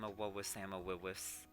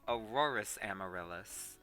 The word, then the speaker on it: Auroras Amaryllis: Hello, I am Awowis Amawilwis. Just kidding, that's not how you say my name. Auroras Amaryllis.